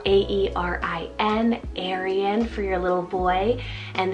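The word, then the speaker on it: Aerin: one means Bright Little House Aryan Spell a-e-r-i-n Aryan for your little boy and this one means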